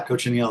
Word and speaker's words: cochineal: Am I pronouncing that right? Yeah, cochineal.